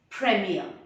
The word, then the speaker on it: premiere: will you pronounce it remember the last r is not pronounced so it is premiere hey you're going to